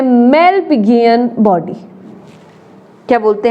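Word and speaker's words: Malpighian: इन दोनों को मिला करके हम बोलते हैं मेलपिगियन बॉडी। क्या बोलते हैं, मेलपिगियन बॉडी।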